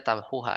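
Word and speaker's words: تمحوها: irab yang benarnya apa Tapi bacanya tamhuha Ya nah sampai di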